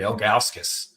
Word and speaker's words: Ilgauskas: Like I just did, Ilgauskas. ILGA.